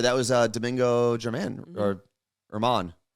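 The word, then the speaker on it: Germán: That was Domingo German, or Herman. Herman. Yeah. But it's German. It's spelled German.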